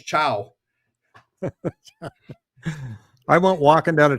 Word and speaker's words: ciao: word I see is I try to pronounce it. I go, "Siao," and this guy next to me he looks at me and goes, "Man, it's going to be a long semester." I didn't even know how to pronounce "chow."